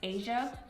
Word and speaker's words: HSIA: the name of hsia I believe it is pronounced Asia they reach out to